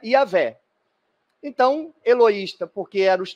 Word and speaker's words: Javé: E onde a gente lê Senhor, é um nome em hebraico que ninguém mais sabe como pronuncia, e por convenção se pronuncia Yahvé.